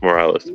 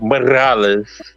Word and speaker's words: Morales: Like, And also, if it's a tiny spoiler, shout out to Miles Morales. Don't forget, you got to roll your R's on the end part.